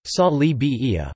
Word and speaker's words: Sali Berisha: salir ambarisa Albanian pronunciation salli Bahia born the 15th of October